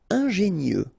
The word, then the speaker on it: ingénieux: Ingénieux. Final X not pronounced, so I-E-U, I-E, nieux.